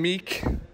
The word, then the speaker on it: Miike: I'm here with Kabam Miike, because that's how you do two I's. It's pronounced Miike. Miike.